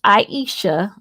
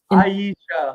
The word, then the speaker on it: Iseashia: It's ISEASHIA. ISEASHIA. Yeah, but it doesn't look like it's spelled. So you kind of have to think about island. You know, island is spelled IS. Yeah, so it's ISEASHIA.